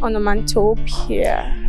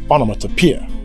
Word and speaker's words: onomatopoeia: I thought that word was pronounced onomatopoeia. No, no, no, no. That's a wrong pronunciation. It is onomatopoeia. It has secondary and primary stress patterns.